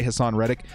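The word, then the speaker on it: Haason Reddick: Someone said I was saying it wrong. I'm going to say Hassan Reddick.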